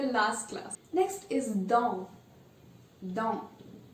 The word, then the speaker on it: dans: Dans. We are not saying don, we are saying dans.